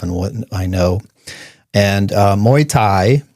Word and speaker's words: Muay Thai: And Muay Thai, which a lot of people can't pronounce, like the drink, is, they call it, what is it?